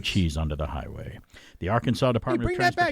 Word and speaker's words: Arkansas: Transportation officials in Arkansas, or as a kid I always say, that looks like Arkansas. That's how it's spelled. Do you know the Arkansas River is called the Arkansas River in Kansas?